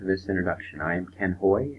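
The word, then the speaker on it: Haughey: I am Ken Hoy, H-A-U-G-H-E-Y, but it's pronounced H-O-Y, like Hoy.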